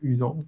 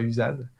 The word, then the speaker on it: Usan: Et pareil pour mon nom de famille, c'est Usan, pas Usad.